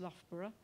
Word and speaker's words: Loughborough: got an installation in in a university that's pronounced loughborough university in the uk they've done a lot